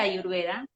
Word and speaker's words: Ayurveda: muchas veces incluso también la realidad es que se pronuncia ayurveda así que es más común que me escuchen de esta forma pero no está mal se puede decir de